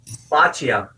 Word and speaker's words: boccia: So, boccia.